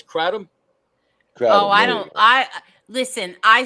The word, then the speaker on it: kratom: Kratom.